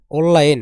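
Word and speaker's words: 온라인: তারা এই বিষয়টি জানেন এই নিউ উচ্চারণ হবে ল আর রেল উচ্চারণ কি ল তাহলে ল মিলে ল মিলে কি হয় ল তাহলে কি দাঁড়ায় উল্লা আর সাথে কি ইন উল্লা ইন মানে অনলাইন শিওফিং মোরল শিওং মোরল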